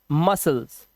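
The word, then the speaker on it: muscles: यहां पर सी साइलेंट ऐसे ही सीन सी साइलेंट डिसाइपल चेले को बोलते हैं शीशे को और मसल्स यानी कि मांसपेशियां इन वर्ड्स के अंदर आपने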